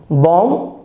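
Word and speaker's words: bomb: यहाँ एम के बाद बी आया है तो आपको बी को नहीं पढ़ना है, बी को साइलेंट कर देना है और यहीं तक पढ़ना है, टॉम, बॉम्ब और कॉम।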